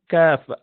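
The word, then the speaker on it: ك: And just in front of that, you pronounce the letter kaf, ak.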